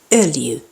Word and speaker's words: öljy: That O with dots is pronounced like the I in bird or the U in hurt, but with rounded lips. Öljy.